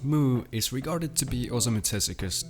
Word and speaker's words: MW: move by the author of Astro Boy MW pronounced moo is regarded to be